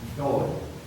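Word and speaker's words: Dáil: Dublin, and we now just refer to that as the first Doyle. Doyle, that's an Irish word, it's a Gaelic word, spelled D-A-I-L. Not to be confused with the Irish surname, D-O-Y-L-E, very simple pronunciation.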